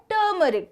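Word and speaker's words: turmeric: होता है टर्मरिक टर्मरिक ये जो आर है ना वो साइलेंट या फिर उसका बहुत ही शॉर्ट साउंड निकलता है वो होता है टर्मरिक ठीक है आगे से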